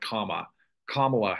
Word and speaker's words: Kamala: to pronounce her name it sounds like comma kamla Harris is the appropriate pronunciation of course her VP